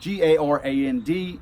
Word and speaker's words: Garand: John Garand spelled his name G-A-R-A-N-D, and he pronounced it Garand.